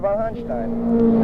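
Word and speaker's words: von Hanstein: von Hunstein. Is that correct pronunciation?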